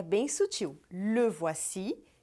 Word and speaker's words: le: Le voici e les voici. Percebeu? Pronuncie você também le voici, com som do biquinho E, le, e les voici, les.